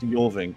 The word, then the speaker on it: Jorvink: Also, it's actually pronounced Jorvink. It's kind of a Viking name, Jorvink. I think. Yeah, it's pronounced with the Y sound.